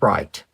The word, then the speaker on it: write: isn't a coincidence that the W is silent on the word right your pen or pencil